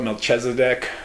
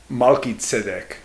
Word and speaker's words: Malki-tzedek: Christians call it Melchizedek, I think is how they say it, but in Hebrew it's Malki-tzedek.